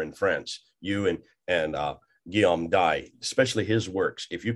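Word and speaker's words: Dye: Guillaume Dai. Or you can pronounce die if you want, but French is D-Y-E.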